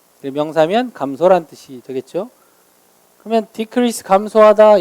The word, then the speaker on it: decrease: 발음은 한 가지인데 강세가 달라요. decrease입니다. decrease인데 decrease라고 발음하지 않아요. 근데 이게 만약에 동사이면 decrease 강세가 뒤에 있고요. 명사면 강세가 앞에 있어요.